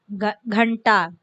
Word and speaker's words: घंटा: टा वर्ग के पहले इन, घंटा, वैसे इसका रूप आता है.